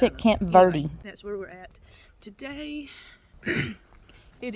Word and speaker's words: Camp Verde: where in Arizona um Camp Verde they actually pronounce it Camp Verde that's where that's where it is a little